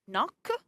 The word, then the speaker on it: knock: For the H in chemist and ghost, the K in knock, the L in the